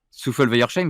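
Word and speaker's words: Souffelweyersheim: Souffle Weiersheim, c'est ça? On dit ça comme ça, hein? Weiersheim. Le H, il se prononce pas.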